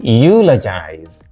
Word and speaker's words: eulogize: A, eulogize. B, pineapple. C, expedient. D, circumstance. So which one is different from the rest? Eulogize, first syllable.